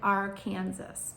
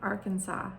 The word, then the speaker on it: Arkansas: It looks like Arkansas, but we pronounce it Arkansas here in the United States.